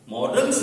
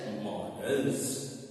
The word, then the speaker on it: modals: डी ए एल एस मॉडल्स इसको मॉडल्स ना मडल्स पढ़ेंगे अदर मडल्स लेट्स बिगन